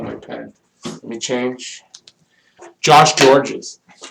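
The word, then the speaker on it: Gorges: Josh Georges. Josh Georges. It's not spelt Georges, it's spelled like gorgeous, but it's Josh Georges.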